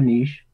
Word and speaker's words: niche: It's my question because people they should look for a niche, or niche, as some people pronounce it, and I'm saying because when I